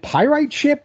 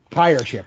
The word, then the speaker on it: Pyreship: couple of members of is it pyrite ship is that how you say it or is it pirate ship like how do you say the band name pyre pirate ship all right yeah uh